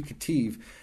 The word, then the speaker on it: Ketiv: It's spelled Q-E-R-E in English. In Hebrew, it's easy. Kufre Shud. And the Ketiv is K-E-T-I-V.